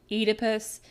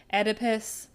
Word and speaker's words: Oedipus: Now, there's some debate on the pronunciation of Oedipus. Oedipus, Oedipus, I don't know which one is technically right, but I've always been taught to say Oedipus, so here we go.